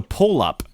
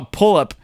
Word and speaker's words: PulluP: And it's spelled completely different, but I saw PulluP and I said it in my head, and in the way that the last P is capitalized, I pronounced it weird in my head and it sounded like polyp. And I'm like, what the fuck is this?